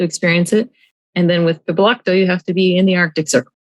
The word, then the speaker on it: piblokto: Have you ever heard of piblokto? How do you spell it?